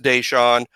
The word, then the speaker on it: Daeshon: One thing, it's pronounced Daeshon. His nickname on the team's Day.